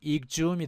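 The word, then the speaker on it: exhume: 뒤에 휴미 붙으면 발음은 익줌이 되겠습니다.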